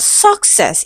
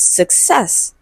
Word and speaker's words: success: Okay, and it is stressed on the second syllable. Okay, so it's not success, it is success.